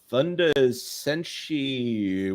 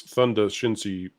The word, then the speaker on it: Thunder Shinsi: Thunder Senshi 150. Either way, thank you very much. Jonas, you mispronounced that. It's Thunder Shinsi 150. 150. You mispronounced the very end.